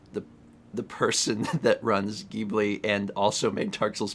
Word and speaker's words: Ghibli: you you cannot win ghibli with a hard g is actually correct yeah the official japanese